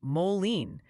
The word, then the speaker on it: Moline: It's Moline. They formed a choir. They're chanting it, complete with rhymes with Jolene singalongs.